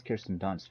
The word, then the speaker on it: Kirsten Dunst: I saw her name is Kirsten Dunst, right? correct. Is that Yeah, how I'm pronouncing?